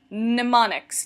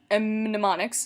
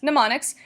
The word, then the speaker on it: mnemonics: actually pretty cool so that's that's how you pronounce it mnemonics not mnemonics it's mnemonics these are formal techniques that make material more